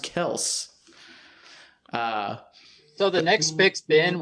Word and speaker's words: Kelce: It's not Kelsey, I guess. He corrected people the other day. It's pronounced Kelce.